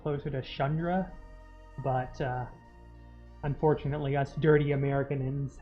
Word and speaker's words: Chandra: What's Chandra?